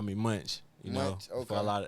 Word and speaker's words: Mvnch: Well it's it's pronounced a lot of people just call me Munchch. You know, for a lot of they just say it, but say Munch.